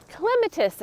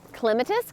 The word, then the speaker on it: Clematis: Clematis, Clematis, tomato, Grace and gardening. We do not need pronunciation police, my friends. So it just depends on where you live in the country is how you say certain plant names. It's okay if somebody says it differently than you.